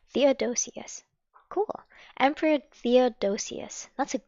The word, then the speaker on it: Theodosius: great riot arose in Antioch against the Emperor Theodosius. I don't know how to pronounce this. Man, we're learning good words today. Theodosius. Theodosius. Thank you. Against the Emperor Theodosius. Did I say that right? Theodosius. Theodosius.